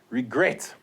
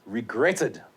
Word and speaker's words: regret: final syllable for example you see this regret now there the stress the accent is on the final syllable so there you go have to double the t it's regretted admit the accent is